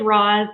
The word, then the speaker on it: Roz: your first name correctly it is raw's it is spelled deceptively thank you so much okay all right roz you know there's there